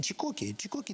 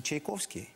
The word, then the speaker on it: Чайковський: Каже, та ні, Чікокі, тобі буде цікаво. Це ж... І тут я розумію, що їм важко вимовити Чайковський. І вони кажуть, Чікокі.